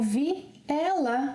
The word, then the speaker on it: vi ela: When speaking, we link vi and ela. Vi ela. And this combination sounds like another word. Viela.